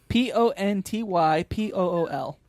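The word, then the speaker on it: Pontypool: not to Ponte pool Pon pool can you spell that p o n t y p o o l oh Ponty pool that makes as little senses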